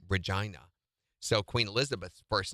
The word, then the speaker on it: Regina: That's the British Canadian version of Regina. They say Regina.